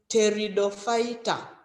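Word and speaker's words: Pteridophyta: fight territory the fight starts with a p don't forget but we don't we don't pronounce the p so we're just saying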